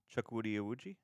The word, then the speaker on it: Chukwudi Iwuji: So to me, while I feel like, do you know how to pronounce his name? Chukwudi Iwuji?